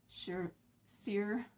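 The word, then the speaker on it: Saoirse: is going to be sure seer oh my gosh i can even pronounce it it's like s-a-o-i-r-i-c-e i believe but yeah it's an irish name so yes happy st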